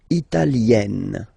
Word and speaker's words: italienne: L'Italie, italien, italienne. Remember, when you get this E followed by a double consonant like here, then you will have to open it.